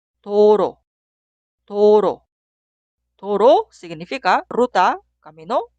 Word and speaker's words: 도로: La primera sílaba suena do, do. Y la sílaba al lado suena ro, ro. Leemos las sílabas juntas. 도로, 도로.